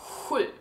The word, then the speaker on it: sju: And if you find it difficult to pronounce sju, I saw on some page that they kind of explained it as in the Spanish pronunciation of Juan. And you just take away an on the end and add a U.